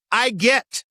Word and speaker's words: IWGET: The entirely imaginary Interagency Working Group on Emergency Terminology, IWGET, pronounced I get, which was flagged as presumptuous.